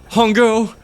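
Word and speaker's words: Hongou: Wouldn't that mean you're admitting your Hungo, the CEO of Cradle, rhymes with Bongo?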